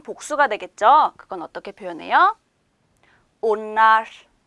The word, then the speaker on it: onlar: onlar 이렇게 발음이 돼요.